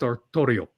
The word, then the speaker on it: Artorius: They have the protagonist, Arthur, they call him Artorius. Well, actually, it's spelled Artorius, but it's pronounced Artorio.